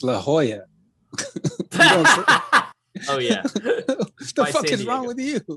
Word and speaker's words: La Jolla: he died in la jala california what the is la jala california it's la jolla oh yeah what the